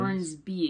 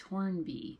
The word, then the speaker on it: Hornby: I always say it wrong. I always want to say Horns- Hornsby because that's like Bruce Hornsby in The Range, but it's Hornby.